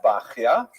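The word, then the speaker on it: Bahya: The customary pronunciation is bakya.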